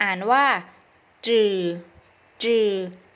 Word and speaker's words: 只: ได้ สอง เสียง เสียง ที่ 1 อ่าน ว่า จืด จืด มี หน้า ที่ ของ คำ คือ ฟูด